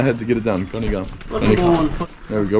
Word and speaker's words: गनी खम्मा: Gani gama. Gani gama. Gani gama. Gani gama. Gani gama. It always takes me quite a few times to repeat it in my head to get it down. Gani gama.